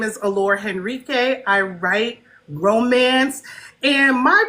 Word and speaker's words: Henrique: Her name is Allora Hendendrick. I said it right. Henrique.